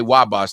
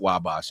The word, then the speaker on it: Wabash: Every time I say Wabash, they tell me it's not Wabash, it's Wabash or something.